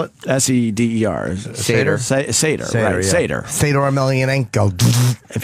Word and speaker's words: seder: If you attend a seder. How right? do you spell it? S-E-D-E-R.